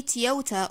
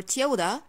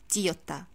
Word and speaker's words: Toyota: water for example so whether we say toyota or toyota both are correct however i can never say tiota for example kyoda cores